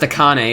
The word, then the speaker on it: Akane: It's pronounced Akane, isn't it? I've been calling her a cane the whole time.